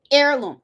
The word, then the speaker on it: heirloom: they said this the h is silent heirloom heirloom that's how you say okay i did a